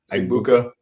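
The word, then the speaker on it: Egbuka: Uh you've already talked about Embuka or what what or how do you pronounce it? Eggbuka.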